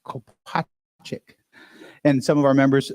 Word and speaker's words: Kopacik: Then you'll hear from Frankie, and I can never pronounce your last name, Frankie Kopacik. The R is silent, Kopacik.